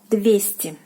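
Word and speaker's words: двести: 200. 200. So the stress is on ye.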